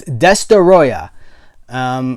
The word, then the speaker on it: Destoroyah: destoroyah which that's how I'm not being I'm not pronouncing that wrong it's desta ayah which I think we